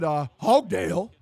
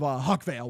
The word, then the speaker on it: Huckvale: And the fucking, the jail guard who let him out mispronounced his name when my dad asked for him. And I said, Hogdale, instead of Huckvale, which is my actual last name.